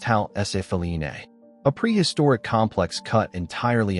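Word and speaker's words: Ħal Saflieni: This is the Halsaflini Hypogeum, pronounced Halsafline, a prehistoric complex cut entirely underground.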